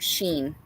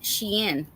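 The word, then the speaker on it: Shein: Oh, and then um I I had to call my other daughter cuz uh I was like for anybody who knows about Sheen.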